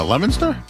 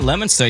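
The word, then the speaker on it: Leominster: who I he said he was from uh Lemonster. Where are you from? Yeah, Lemonster. Yeah, Leo Minster, right?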